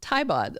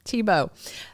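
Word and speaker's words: Thiebaud: the same way and she pronounces Taibod like in the German way and I have always thought it was that way. You guys set me straight. That's fine. Tibo.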